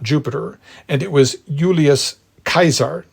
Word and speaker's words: Caesar: was Jupiter not Jupiter and it was Julius kaisar not Julius Caesar anyway we'll get back to the pronunciation in a bit but anyway ver or